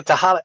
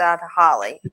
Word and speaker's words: Tehaleh: And she said, well, it rhymes with tamale.